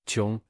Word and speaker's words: 睘: walk " And the right side that's 睘 (pronounced "jiong"), and let me tell you it's not a